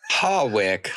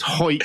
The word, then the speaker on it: Hawick: Hawick, brother of John Wick. Yes, well, it's Hoik, which is famous for rugby, which is a sport for men.